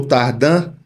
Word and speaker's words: Tardin: Família Tardim ou Tardan. Se escreve Tardim, mas o jeito correto de falar é Tardan.